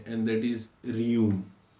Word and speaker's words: Rheum: Next remedy, is जो बच्चों में यूज होती है, एंड दैट इज रियूम। क्या है इसका स्पेलिंग? RHEUM, रियूम।